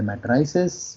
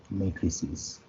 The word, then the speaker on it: matrices: Generally लोग बोलते हैं मैट्राइसेस, बट नहीं, इसका करेक्ट प्रोनाउंसिएशन है मैट्रिसेस।